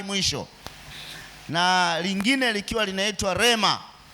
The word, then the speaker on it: rhema: Na neno la kwanza linatamkwa kama lagos. Lagos iso na i mwisho. Na lingine likiwa linaitwa Rema.